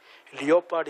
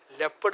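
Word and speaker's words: leopard: ലിയോപാഡ് is crime crime എന്നാ, ലെപ്പഡ് എന്നാണ് അത് വായിക്കേണ്ടി.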